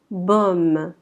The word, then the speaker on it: baume: AU va être prononcé O. Comme la lettre O, ça y ressemble un petit peu. O. Donc on va dire baume.